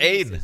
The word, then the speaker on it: Ain: Oh, is that how you pronounce Ain? Just yesterday with I got it. It's Pain without the P.